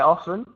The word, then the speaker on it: often: the worst pronunciation but you should say the T often yes so the pronunciation